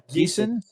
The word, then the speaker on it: Geeson: Judy, how do you pronounce Judy's last name correctly? Do you know? Geeson.